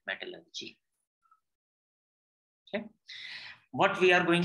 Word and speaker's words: metallurgy: It is not metallurgy, it is metallurgy.